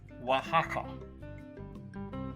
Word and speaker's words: Oaxaca: from Mexico City to Oaxaca which is actually pronounced Oaxaca it was a beautiful lazy little town and